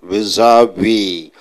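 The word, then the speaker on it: vis-à-vis: How do you pronounce? Vis-a-vis.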